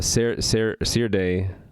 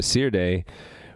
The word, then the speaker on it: Serde: and u8 and string and slice they uh see your day i'm going to have to practice that pronunciation see your day we'll um provide a stock implementation of that